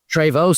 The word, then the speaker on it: Treyvaud: I can't remember much about it obviously for obvious reasons, but like So your dad was Michelle Tvo. Tvo. Spot on. Yeah. Well, well pronounced.